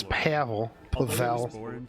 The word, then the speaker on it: Pavel: It's Pavel.